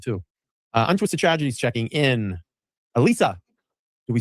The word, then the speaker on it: Elisa: Elisa. Do we say it right? She always goes, they say my name wrong. They say Elise.